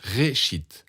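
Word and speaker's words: ראשית: La Genèse vient d'un mot hébreu qui se prononce réchite et veut dire commencement.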